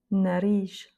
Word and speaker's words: nariz: Et donc, dans les deux cas, de toute façon, l'accent tonique se fait sur la dernière voyelle. Abril. Nariz.